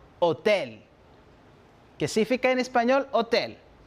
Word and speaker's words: hôtel: En la palabra hôtel identificamos dos sonidos, le son O y le son E. Por lo tanto, pronuncio hôtel.